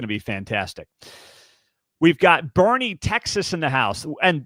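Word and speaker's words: Boerne: We've got Bernie Texas in the house. And thank you once again for the pronunciation guides that you are providing here on the show because Bernie Texas B O E R N E is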